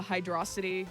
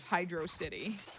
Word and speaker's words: Hydrocity: chat were wrong yep why would you pronounce it as two words but it's one word oh i got the